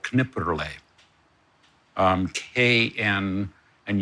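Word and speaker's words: Knipperlé: grape from Elsass called Kniper. Um KN and you actually do pronounce the K and the N which is not like knife right knife.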